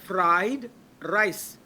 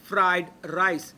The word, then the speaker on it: fried rice: Now ออกเสียงต้องใช้ fried rice. No fried rice ฟอฟันลอลิงไม่ใช่ ต้องใช้ฟอฟันรอเรือ fried rice.